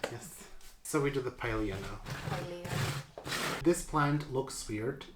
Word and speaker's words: Pilea: I said it for the Pilea too. How do you say it in English? Mother Pil- plant? No. Pilea. Pilea. Pilea. I mean, with an English accent. I think in Latin it's just Pilea. Pilea.